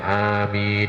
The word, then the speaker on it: amin: Tapi kalau doa amin ya ini sama, hanya dibaca panjang, paling tidak setidaknya dibaca 2 harokat atau 2 ketukan gitu. Kemudian min juga sama itu, seakan-akan sama jadi bacanya amin ya.